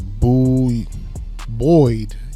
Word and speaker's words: buoyed: I don't know, that's not how you say it. It's a buoyed.